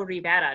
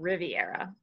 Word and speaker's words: Rivera: pronounce that yeah cuz it's also just Diego Rivera not Riviera pretty better oh I